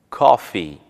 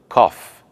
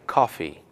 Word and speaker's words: coffee: correta é I like Coffee e não I like cof perceba que é muito comum não pronunciar o som do I onde precisa como em Coffee se